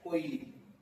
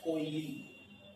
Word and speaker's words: KOYALI: KOYALI, कोयली, KOYALI, कोयली, okay. Next लिखो oil refinery Assam, oil refinery Assam. इसका spelling है DIGBOI, डिगबोई, यहाँ पर लिखा है DIGBOI, डिगबोई।